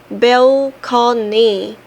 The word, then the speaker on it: balcony: were not bad enough, balcony makes me sick. The word is borrowed from Italian and it was pronounced balcony.